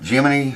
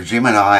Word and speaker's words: Gemini: Or Jiminy or Gemini I think it's pronounced.